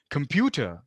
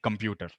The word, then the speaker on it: computer: heavy mother tongue influence where instead of saying say computer he's saying computer so look at how I pronounce that word - standard way of saying it is pewter but we say computer we give that really strong our sound computer so when